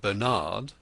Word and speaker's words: Bernard: Adele and Bernard, pronounced Adele and Bernard, the 2 children, strutted in behind the others,